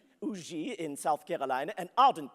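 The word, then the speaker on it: Huger: Yes, we had landed at the plantation of a Monsieur Auger, Benjamin Sugar, or Auger is the way you pronounce it there, Auger in South Carolina, an ardent patriot, but he had mistaken me and my companions for Englishmen.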